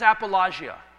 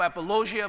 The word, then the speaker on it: apologia: The word defense is apologia. And pronounced by most people apologia, but they're incorrect on the pronunciation, but big deal.